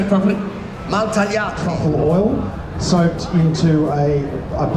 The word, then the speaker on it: Maltagliati: Maltagliati.